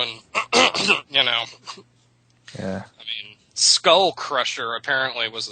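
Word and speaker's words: mīn: well it would be mine it would actually pronounced mean but it's spelled mine so mean vosto my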